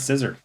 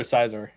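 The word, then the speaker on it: Scizor: Quagsire's gonna go down, and now we're out to Scissor. You call it Scissor or Sizor?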